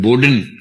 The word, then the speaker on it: Bodin: बोदा नाम का आदमी, जिसको अंग्रेजी में बोडिन तरीके से लिखते हैं, BODIN, फ्रेंच उच्चारण इसका बोदा होता है, जियां बोदा, जीन बोडिन।